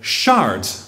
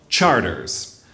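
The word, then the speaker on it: Chartres: The maps and highway signs call it Chart, like the town in France, but people who live here call it Charters.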